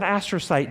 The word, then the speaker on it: astrocyte: the green is an astro site an astro site and if you want to wear an astrocyte does think astronaut even though it's spelled differently and you'll remember because